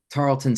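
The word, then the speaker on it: Tarleton: the name of the school how do you pronounce it Tarlton state with a t yep Tarlton okay yep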